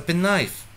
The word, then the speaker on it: penknife: Do we use microwave or television, washing machine, or do we use a penknife? The answer is clear. It is A pen knife. A pen knife. K is silent.